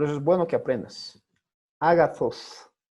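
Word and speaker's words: ἀγαθός: Agathos. Agathos o agathos, algunos pronuncian, ¿no? Agathos, como Z. O agathos.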